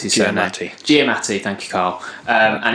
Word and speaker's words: Giamatti: I can't pronounce his surname. Giamatti, thank you, Carl.